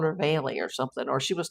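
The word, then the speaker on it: Vale: But is she Veil or is it Veily? Veil is her daughter's name. Perhaps Veile is a nickname. Yeah, cuz it's spelled V A L E, but I always thought it was pronounced Veil.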